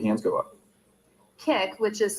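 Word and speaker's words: Kik: Kick, which is spelled K-I-K, is a free messaging app that anyone can download.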